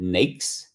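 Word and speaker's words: NAICS: American industry classification system we call it nakes think of snakes but remove the s in front of the n and so it would be nakes so that's the ideal way to pronounce that there so someone put uh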